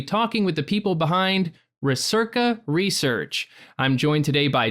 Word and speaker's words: Recerca: Did I butcher any pronunciations? We are calling it Recerca.